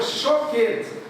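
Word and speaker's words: שוקד: A palavra de baixo é choquete. Se escreve igual, lê diferente.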